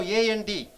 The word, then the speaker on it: and: It is a functional word. A-N-D. How do you say? And. Only N. Coffee and tea. And. No and. N. Only N. Coffee and tea. N, N, N. No D sound, only N.